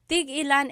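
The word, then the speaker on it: tig-ilan: So, tig ilan, when there's a hyphen in it, you have to have that glottal stop. Tig ilan. That means how many of each. When there's no hyphen, tigilan, tigilan.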